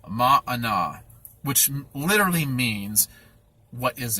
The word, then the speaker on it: manna: butcher the pronunciation but by clearest understanding of how that's pronounced is mana which literally means what